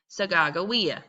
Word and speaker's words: Sacagawea: them, her name was Sacagawea. Now, some people pronounce her name Sacagawea because remember, different group of people, different language. So either way, Sacagawea, either way you want to say it, that would